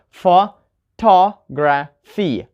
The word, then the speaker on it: photography: Or photography, right? We have the stress on ta, photography, right? Ta is the third one from the end.